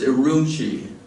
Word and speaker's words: Urumqi: It's sometimes spelled U-R-U-M, is it Q-I, but it's pronounced Urumqi.